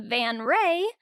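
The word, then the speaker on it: van Ree: changing the signature from Tasia Van Rey but it's spelled as vanri to Tasia van p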